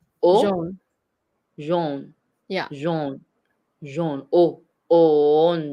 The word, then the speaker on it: jaune: But AU is also pronounced O in French. Oh, so Yeah. jaune. So which is why you say jaune. Jaune. O, Jaune. O, Oh, jaune. jaune.